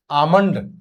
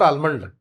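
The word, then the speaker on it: almond: नॉट गांठ that is आमंड नॉट आलमंड इट इज आमंड आमंड आमंड आमंड आमंड हां most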